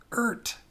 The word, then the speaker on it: Eart: I found out that's how you pronounce it. Eart.